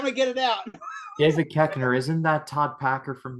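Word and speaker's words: Koechner: he's hilarious in that I used to think his name was David coocher but it was like keker so I heard someone pronounce it I'm like really just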